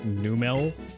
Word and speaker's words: Numel: It's actually pronounced Numel.